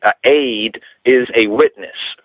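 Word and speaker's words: עד: It comes down to the word aid, right? Aid, that's E-D. They pronounce it aid, A-Y-D, because of a pointing on the ayin, the Hebrew letter, but it's written in the English as E-D.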